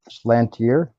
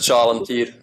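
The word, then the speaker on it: Schalentier: It's just Chalantir, but it's actually it's just shellfish in English, I think.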